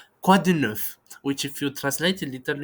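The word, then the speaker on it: quoi de neuf: It's common these days, and but the pronunciation in French and the way it is written, it's a little bit, let's say, weird. "Quah-du-nuff," which if you translate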